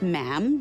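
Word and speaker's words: ma'am: and after that is just mam rhymes with jam and it's always a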